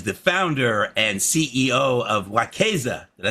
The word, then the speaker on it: Wekeza: And as request so uh uh our guest today is Miss Sabrina Lamb and she is the founder and CEO of WAZEA.